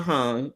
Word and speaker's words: Hong: Or Noah Alexander Sonowski, Emma, is it I want to say Hong, but it might be Ho. I don't want to say her name wrong. Let me find out what her name is. Um, yeah, it's Hong.